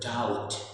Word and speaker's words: doubt: नाउ अब यहाँ फिर से आप देखेंगे टी के ठीक पहले बी है तो हम बी को रीड नहीं करेंगे, बी हटाकर पढ़ेंगे DOUT। नाउ the word is डाउट, DOUT, डाउट।